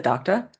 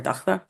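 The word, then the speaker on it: Dagda: And he says that the goddess is the daughter of the Dachta, or Dachta, however you want to pronounce it.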